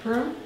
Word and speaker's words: Purim: Purim.